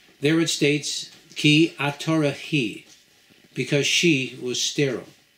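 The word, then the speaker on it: היא: The Hebrew word for she is pronounced he. In this case, the word is read as it is feminine, but in reality, it is spelled with, as if it were masculine, who, again, with a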